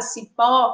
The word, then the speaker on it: cipó: Na palavra cipó, que também tem duas sílabas, a gente percebe que a sílaba tônica é a sílaba pó, que também é a última.